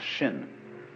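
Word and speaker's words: 心: In Chinese, mind is um this word pronounced shin and shin is here.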